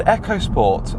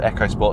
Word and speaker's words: EcoSport: interesting because the ford ecosport and yes it is pronounced echo sport look it up it's not eco sport even though it looks